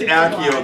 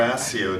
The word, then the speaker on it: Accio: Well, we couldn't just Accio the hoodie, you know, or Asio, depending on what your pronunciation is. Rowling seems to prefer the S one.